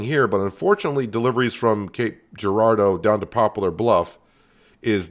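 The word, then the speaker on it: Cape Girardeau: I was also uh told to pronounce this city Cape Gerardo, which makes sense after the way they they typed it out for me.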